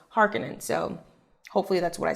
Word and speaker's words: Harkonnen: baron harkenen okay so when i first watched the 1984 version they said harkonnen but then in the 2021 version they say harkenin and so i had to look up what the correct pronunciation was and apparently frank's initial pronunciation was harkening so hopefully that's what